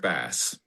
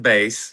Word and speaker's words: Bass: It's not pronounced base. It is bass and yes, he does play the bass.